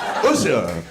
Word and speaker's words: Usha: Usha, like the singer.